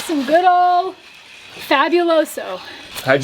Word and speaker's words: fabuloso: Bro, how do you say this? Fabuloso. We talk like gringos. Fabuloso. Wait. Do what you want. Bienvenidos a Panama. Me gustaría. It's fabuloso. Fabuloso.